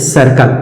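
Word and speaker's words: circle: से सीख सकते हैं जैसे सर्कल सी के बाद आई आया तो सी का सही उच्चारण सा और सी के तुरंत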